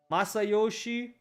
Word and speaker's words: Masayoshi: Masayoshi?